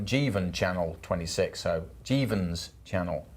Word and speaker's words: Jeevan: Just for a correction, I got a pronunciation wrong, so it's Jeevan Channel 26, so Jeevan's Channel 26 asked that question earlier, so corrected me on his pronunciation.